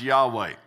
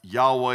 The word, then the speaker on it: Yahweh: quite often is pronounced Yahweh Yahweh vowels can differ but Yahweh is how it's mostly said and that stands for